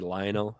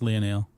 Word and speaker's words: Lionel: how I say it it's supposed to be Lionel I don't know no that's pronounced Leonel is it Leonel he